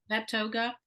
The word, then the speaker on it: Vetoga: Let's talk about Vetoga. Is that how you pronounce it? Vet yoga? Yep. Vetoga. That's where you got certified as a yoga teacher.